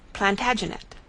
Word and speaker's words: Plantagenet: covered with his visor the Latin name for broom is planta janista and gradually it came to be pronounced Plantagenet although Geoffrey was French